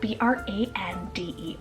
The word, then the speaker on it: Brander: Then we have Brander, spelled B-R-A-N-D-E-R, Brander.